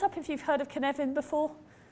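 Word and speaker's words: Cynefin: the moment hands up if you've heard of kinevin before it's felt c-y-n-e-f-i-n now you know that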